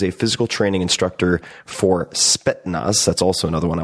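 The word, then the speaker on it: Spetsnaz: In the 1980s, he was a physical training instructor for Spetnaz. That's also another one I want to mispronounce always. It's not Spettznaz, Spetnaz, the elite Soviet special forces units.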